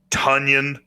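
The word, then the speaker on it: Tonyan: should be 100 um tonion rhymes with funyun will be a hundred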